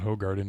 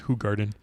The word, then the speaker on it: Hoegaarden: calling it on not hoe garden like check it check out their website they they say it's officially pronounced who Garden if you haven't seen our who Garden review and you're wondering